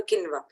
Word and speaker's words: quinoa: You can make a khichdi out of a quinoa. So please remember quinoa, if I have to pronounce because the name is not written, it's Quinoa. Quinoa.